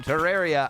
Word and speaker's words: Terraria: Terraria.